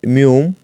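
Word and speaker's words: 미음: রয়েছে এটি কুরিয়ান রূপ ম কে বলা হয় মিউম আর ন এর কুরিয়ান রূপ এর কুরিয়ান উচ্চারণ হলো নিয়ন মটি একটি মূলত একটি বর্গাকার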